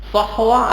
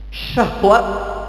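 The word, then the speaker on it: صحوة: ya sahwatul isad ya ini biasa kalau keliru saja membaca ini biasa fatal artinya Sahwa artinya bangkit pakai Shad pakai Shad kalau biasa salah pengucapan memakai huruf syin syahwat ini juga artinya bangkit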